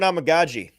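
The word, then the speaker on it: Amegadjie: I'm gonna go with Kieran Amagaji because it's fun to say. Yeah. It sounds like Tamagotchi.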